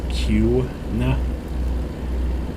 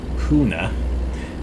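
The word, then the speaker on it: Kuna: called cuna which is spelled k-u-n-a and again pronounced q nah but yeah uh people would be like huna and it's like wait what what'd you say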